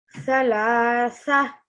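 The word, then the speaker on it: ثلاثة: How about on thalathatin? Thalatha. Excellent. So ta marbuta is going to become ha sakin.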